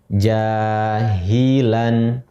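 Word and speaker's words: جَاهِلًا: Jahilan. Ketika kita ingin berhenti, waqaf, maka cara membacanya seolah-olah tanwinnya hilang, kita baca menjadi jahila gitu. Kemudian berikutnya lagi ha, alif, fathah, ha, mim, kasroh, mi, dal, alif, tanwin, fathah, dan.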